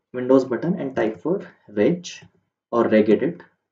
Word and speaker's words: regedit: type for wedge or regedit hard g or a soft g any anything of your choice and but if you